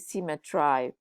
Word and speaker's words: symmetry: Symmetry here should rhyme with eyes. You should pronounce it symmetry. It's a queer, old, strange rhyme.